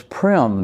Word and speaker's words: Prem: My uh Sanskrit name that was given to me at the ashram is prim. That rhymes with Jim.